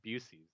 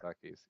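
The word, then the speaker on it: Buc-ee's: How do you pronounce it incorrectly? Some people call it Busey's. I don't know. Busey? But it's definitely Bucky's. See? Definitely Bucky's.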